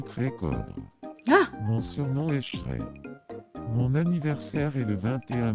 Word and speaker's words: Shrek: Mais en fait, je lui ai dit de prononcer Shrek, genre j'ai écrit C H R E Q U E pour lui dire de prononcer comme ça. Et il dit crack au lieu de Shrek.